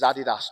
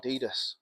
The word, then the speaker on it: Adidas: load of Americans how to pronounce Adidas. It is Adidas, not Adidas.